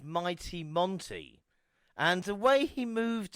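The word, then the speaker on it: Mante: not gonna lie and he spells Monty m-a-n-t-e but it is Monty pronunciation so like you said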